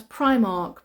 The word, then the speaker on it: Primark: yeah yeah that's right Argos Argos how to pronounce Primark pry I Primark Primark Primark uh Aldi we